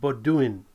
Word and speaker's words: Baudouin: Simon, he told me how to pronounce it, Baudouin. Simon Baudouin has worked hard.